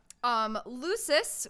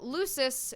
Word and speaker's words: lusus: we looked it up lusus which is how it is supposed to be pronounced I was wrong on